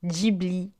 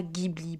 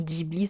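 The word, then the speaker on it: Ghibli: diibli et non pas Gibli pourquoi je fais la remarque c'est comme le mot ramène on va dire ramène ou alors Tokyo on va dire Tokyo vous voyez on prononce comme l'origine du mot c'est juste pour ça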